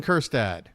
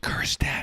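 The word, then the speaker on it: Kjerstad: simply weren't fast enough here's hon kirad remember the J is silent eston Kad is coming up to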